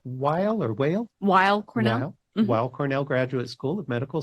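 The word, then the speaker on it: Weill: Center and earned her PhD from how me pronounce that is that while or whale wild Cornell while Cornell Graduate School of medical sciences and did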